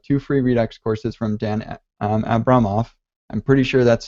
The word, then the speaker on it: Dan Abramov: the host of two free Redux courses from danette Abramoff I'm pretty sure that's how Brian finds told